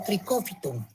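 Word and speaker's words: Trichophyton: Los géneros más importantes de los dermatófitos son el tricofiton, que se escribe así como están viendo, trichofiton y se lee como tricófiton.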